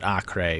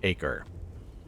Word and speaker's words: Acre: am going to still pronounce it acrae instead of acre uh we brought in